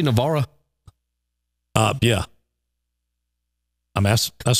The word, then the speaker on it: Navarre: Do I say Navarra? Yeah. I mean, that's how you pronounce it. I mean, it's spelled Navarre. Navarra. Well, people in Navarre say Navarre. Oh, really? Yeah, that's what they call it.